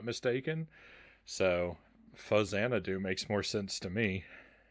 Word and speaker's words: Faxanadu: a z sound but the title is a combination of the word famicom and xanadu if i not mistaken so fuzzanadoo makes more sense to